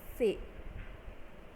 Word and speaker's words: ce: For example, CE, it is followed by E, so here it is pronounced as say.